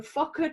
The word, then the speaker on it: Fokker: The Fokker triplane, did I pronounce that correctly?